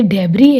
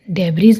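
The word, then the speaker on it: debris: Oil, island, oil, डेब्री, ये डेब्री है, डेब्रीज नहीं।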